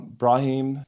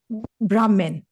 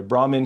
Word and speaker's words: Brahman: Uh Brah Brahim Hindu and say again Brahman. Brahman. Brahman. Sorry the H is silent there. Brahman Hindu.